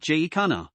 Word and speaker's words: jacana: established pronunciation in portuguese the sea is meant to be pronounced as an s this pronunciation has sometimes carried over to other languages as well however the standard english pronunciation is something like j khanna can jakkinas fly yes